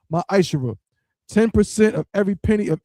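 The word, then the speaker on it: מעשר: through 10, means 10th in Hebrew, and it's pronounced ma'ashera.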